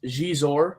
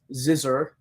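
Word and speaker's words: Xizor: slave ship there's Prince gizor on the cover well I always pronounces zizer until people corrected me forcefully um now we've got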